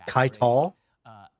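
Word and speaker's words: Caiatl: That's how you say it, Kaital.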